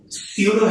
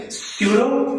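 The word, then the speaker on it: pseudo: Okay, okay વિદ્યાર્થી મિત્રો, સમૂહ 17 માં આ લગભગ ઓલમોસ્ટ આ લાસ્ટ થિયરી છે અને થિયરીનું નામ છે સ્યુડો halogen. Not સ્યુડો, p is silent.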